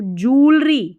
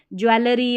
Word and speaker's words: jewellery: और इसको जूलरी, क्या पढ़ा, जूलरी, जूलरी। अब ऐसे देखेंगे ज्वेलरी और ऐसे पढ़ेंगे तो स्पेलिंग नहीं आती है, इसको जूलरी पढ़ना है, जूलरी याद कर ले, JEWELLERY, जूलरी, आभूषण।